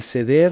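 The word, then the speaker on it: סדר: Se pronuncia exactamente así, An Seder.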